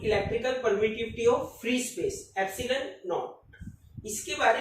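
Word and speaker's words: epsilon naught: सो यहाँ पे ये जो एप्सिलॉन नोट है, इसको हमने कैसे प्रोनाउंस किया? Absolute electrical permittivity of free space, एप्सिलॉन note.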